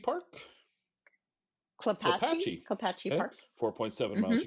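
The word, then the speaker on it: Klapatche: South Puyallup River to, I'm never going to pronounce that, Clapshy Park? Clapatchie Okay, Park.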